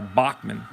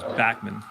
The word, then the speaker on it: Backman: the shortstop Wally Backman I go back and forth between calling him back men and Bachmann I I believe the pronunciation is Backman I guess if we were be if I were you know broadcasting from from Liverpool it would be Bachmann I'd have the Beals